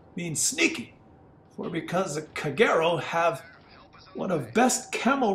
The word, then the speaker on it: Kagero: is be captain of Kagero tr9 Japanese destroyer and closed thick is pronounced kagero because is not pronounced kaguro for because if you